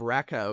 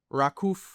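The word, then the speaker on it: Raków: Haiduk split and and uh instead of Rakao it's Rakuf Chentohova Raku Chentohova.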